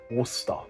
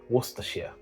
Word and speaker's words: Worcestershire: It's as simple as Worcester. Like with the sauce as well, Worcester sauce. You don't say Worcestershire. No, that's incorrect. Worcester. Worcestershire.